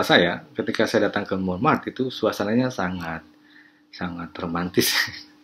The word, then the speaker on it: Montmartre: Gereja Sacré-Cœur itu Sacré-Cœur di Montmartre. Sebaiknya Anda belajar pengucapan bahasa Prancis yang menyulitkan itu. Mont bukan mon, kalau orang-orang Inggris masuk ke Montmartre itu menyebutnya Montmartre. Jadi orang Paris menyebutnya Montmartre, ya.